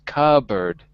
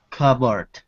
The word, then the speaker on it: cupboard: cupboard cupboard one day the pronunciation is a little different than it's written cupboard cupboard good one day when